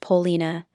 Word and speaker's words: Paulina: The child was named Paulina instead, pronounced Paulina, and Longworth accepted her publicly without qualification.